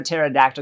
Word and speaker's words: pterodactyl: and you can't hear a pterodactyl go to the bathroom because the pee is silent listen up my friends